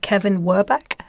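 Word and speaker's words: Kevin Werbach: And I'm just going to read out something else from the book that you've cited, Kevin Werbeck.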